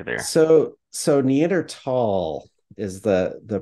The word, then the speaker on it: Neanderthal: scolly um is it neander Thal or tall what should I say there so so Neer tall is the the pronunciation so so in German the H is silent and so actually if